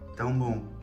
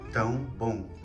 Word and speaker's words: Tão bom: Tão bom. How? Tão bom. Tão bom. Yep. Tão bom. Obrigado. Obrigada. Okay, now it's my turn. Here we go. This is amazing. Isto é tão bom.